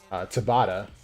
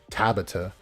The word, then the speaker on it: Tabata: It really depends on how our guy right here, Tabata, as it's correctly pronounced, and not Tabata, as people like RTL say it.